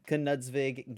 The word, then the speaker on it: Knudsvig: kanutzvig sorry i i i thought it was just nudsvig at first and i asked him how to pronounce his name he was like yeah it's weird you do pronounce the k so knudsvig getting top four with